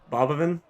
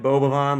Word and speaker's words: Boban: to pronounce things right I was reading it like bavan like ban marianovich but with an AV in there I don't know by